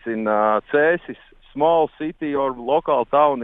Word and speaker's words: Cēsis: Cēsis. Sounds silly, Cēsis.